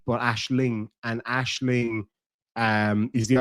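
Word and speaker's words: Aisling: name that I love Another Irish name is Ashling um not ashle but Ashling and Ashling um is the Irish word there's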